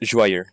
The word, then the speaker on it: Joyeuse: was Emperor Charlemagne's personal sword, which was named Joyeuse. Joyous, yeah. Apparently, I assume it means joyous in French. Joyous. Joyeuse, yeah. Yeah, it's pronounced joyeux.